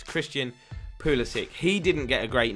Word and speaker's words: Pulisic: This guy caused me a headache because it is pronounced Christian Pulisic.